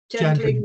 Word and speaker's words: Gendlin: He was Gendling with a G or a J? With a G. G. I think it's a soft. Some people say Gendlin, but I think it's a soft G.